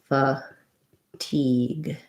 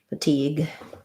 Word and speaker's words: fatigue: let's look at fatigue fatigue has second syllable stress so i'm going to see a clear e vowel for that letter i the this letter g